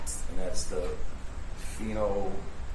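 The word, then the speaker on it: phenolphthalein: And that's the phenoin phenoline. Phenol. Can you spell that, please?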